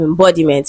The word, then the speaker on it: embodiment: it is stressed on the second syllable B. Right? So meant is a suffix that do not change the stress pattern of a word just like lessness um IV and so on and so forth. Okay. So it does not change the stress pattern. So we have embody we have embodiment.